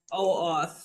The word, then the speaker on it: OAuth: AOUTH. Is that what you mean? OAuth. Yeah, OAuth. Oh, I always butcher it.